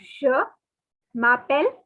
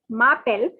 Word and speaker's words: je m'appelle: It is not any other pronunciation. Please note it is je m'appelle and your name.